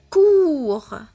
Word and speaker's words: cours: On a O après le C, donc on la prononce K, cours.